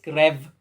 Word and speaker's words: Crew: and manga of course in czech we should pronounce this krev but you know um